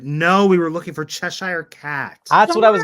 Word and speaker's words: Cheshire: I spell that yeah c-h-e-s-h-i-r-e it's like Cheshire it's like Chaser yeah like sure but not next okay Fairy